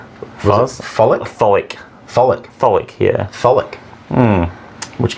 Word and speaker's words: Tholic: The pronunciation, I think, is Tholic. Folic? Tholic.